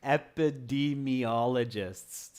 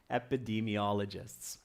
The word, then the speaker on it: epidemiologists: the D me ologist sorry students the correct pronunciation is epidemiologists a nice long word Kevin epidemiologists okay flower son says I think keys are